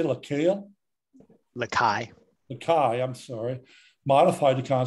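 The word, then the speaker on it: Lacaille: From past topics, I believe it's pronounced Lakai. The L's are silent.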